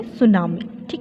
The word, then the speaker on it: tsunami: वह बेटा चुनाव में इस वर्ष पहले मिट्टी साइलेंट है आप इसको पौन इंच कैसे करोगे सुन मिर्ची है सुनामी इस जैपनीज़ वर्ड जो सुनामी बट